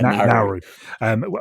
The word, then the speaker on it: Nauru: He says, what impact will the appointment of Dave Kitson for I hadn't checked how to pronounce the Nauru. Yeah, Nauru.